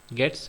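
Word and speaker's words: gets: तो गेट्स और पुट्स इसको प्रोनाउंस किया जाता है, गेट्स एंड पुट्स, और इसका फुल फॉर्म होता है gate string and put string.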